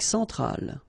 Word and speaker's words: centrale: Centrale, remember, E-N nasal, so it goes in your nose. En.